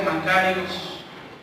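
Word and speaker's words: μακάριος: la palabra G 3107 que se pronuncia macayos y fíjese el significado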